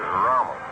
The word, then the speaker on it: Ramos: Ramos, the proper pronunciation is Ramos.